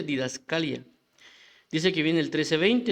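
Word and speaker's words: διδασκαλία: caso dice que la palabra es o se pronuncia didascalia dice que viene el 1320 eso también es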